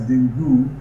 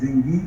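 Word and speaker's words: dengue: is like even though it is written as dingu it is the right pronunciation is dingi or Deni it's a viral infection transmitted to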